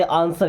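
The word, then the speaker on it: answer: आंसर the question, देखिए आंसर नहीं पढ़ते, आंसर यहाँ पे डब्ल्यू साइलेंट है।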